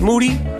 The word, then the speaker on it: Moody: the Year Mr Gerald Moody what it is last name rhymes with Duty for sure some people